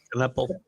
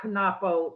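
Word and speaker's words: Knueppel: But this kid from Duke, okay, I can't pronounce his name, the center, Knuppel. Knuppel. Yeah. No, not Knapo. No.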